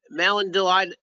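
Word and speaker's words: malondialdehyde: Would elevated malondaldehyde, how do you say that?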